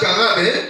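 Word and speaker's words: קרב: En hébreu, ça vient de la racine carabe. On prononce ça comme ça. Carabe, ça va qui signifie se rapprocher de Dieu.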